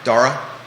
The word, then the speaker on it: Dara: to pronounce this principal's name Dara rhymes with Sarah Sarah Dara Mara and last name Bonham